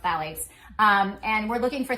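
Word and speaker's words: phthalates: It's spelled with a ph, but it's pronounced phalates.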